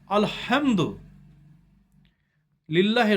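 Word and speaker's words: الحمد لله: আলহামদু লিল্লাহি রব্বিল আলামিন। হয়ের বড় হ আছে, চাচ্চুস্মি হে নেই, জিম হে আছে ওইটা। আলহামদ, হটা উচ্চারণ বেশি করবেন।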